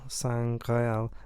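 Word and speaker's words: Sangreal: a classic one because in french s-a-n-g-r-e-a-l san criel means the holy grail but if you move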